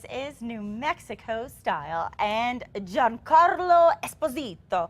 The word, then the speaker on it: Giancarlo Esposito: New Mexico style and John Carlo Esposito I have to say it like that because he said he's Italian and he likes to pronounce that way well known for his